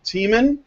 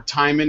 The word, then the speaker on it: Tiemann: So, I'm Brian Martinez, and I'm joined by Tiemann, or Timon if you feel like mispronouncing, Mad Cat, Mike, Anna Cherry, the timing on that, and Penina, the Secret Badger.